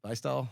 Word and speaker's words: Bystol: Bystol?